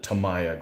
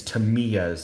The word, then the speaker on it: Tamiya: like this tamiya one i always called it tamaya growing up and we worked at the store but apparently it's to me as the correct way to say it i don't know that's